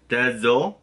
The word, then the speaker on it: désolé: and then DE-ZO, I guess like a Z-O. Désolé, like le. And then like le, but without the extra like le, it's not that high. It's désolé.